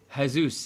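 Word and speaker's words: Jesús: Jesus is how they say it, isn't it? Yeah, in Spanish. You're right.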